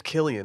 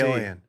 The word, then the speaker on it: Cillian: His name's Killian with a hard C. Killian.